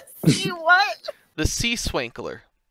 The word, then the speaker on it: Swankler: The Sea Swankler. Spell that? SWANKLER. Oh my god. Okay, that's actually how I thought it's. All right. Okay. Like sprinkler, but with a W instead of a P.